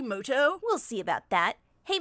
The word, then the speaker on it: Muto: turn wait a minute is that yugi mudo actually his name is pronounced yugi moto we'll see about that